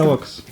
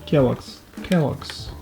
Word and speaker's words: Kellogg's: Ну как она читается? Kellogg's. Хорошо. Все, теперь знай, с этого момента Kellogg's. больше не читай по-другому. Kellogg's.